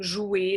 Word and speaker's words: jouer: that if you're interested, we actually wouldn't pronounce the R, we'd pronounce the E and R together, combined as E, comme jouer, chanter, parler.